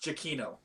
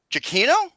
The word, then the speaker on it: Giacchino: score Michael KITT Michael Giacchino for up is my Twitter it's pronounced Chiquito Chiquito really yeah it's almost like saying casino cappuccino I don't know alright